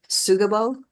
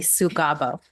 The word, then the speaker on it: Sugabo: and this is sugab am I pronouncing your name right um it's actually sugabo sugabo got it thank